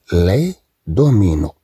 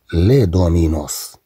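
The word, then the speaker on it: les dominos: إذن لي دومينو، إذن هاد إس تنطق بحال أي، لي دومينو، طبعا لا نقرأها هنا لي دومينوس، طبعا نتكلم عن لعبة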